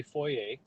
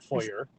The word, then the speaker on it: foyer: it's regional we say foyer not foyer yeah we say foyer although i'm noticing a lot of the younger generation is starting to say fire i know well they're